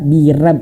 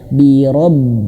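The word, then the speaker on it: بِرَبِّ: Nah, maka bacanya biro, rob. Jangan bira, rab, birab. Ada yang baca seperti itu ya. Jangan ya. Kul a'udzu birab. Keliru sekali. Ro gitu ya. Birob.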